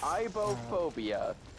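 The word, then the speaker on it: aibohphobia: of pal is called um not at all ibop phobia do you want to know how that is spelled same backwards yep that's the point a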